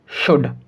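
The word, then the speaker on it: should: जब कभी भी डी से पहले एल को लिखा जाएगा तब एल साइलेंट होगा। तो हम इसको क्या पढ़ेंगे? कुड, वुड, शुड।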